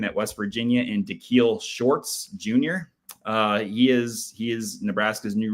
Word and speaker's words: Shorts: Was it pronounced Shorts? Shorts.